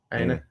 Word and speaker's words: Aina: Kilman and Konza, and Anya, is it Anna? How do you pronounce that? Aina.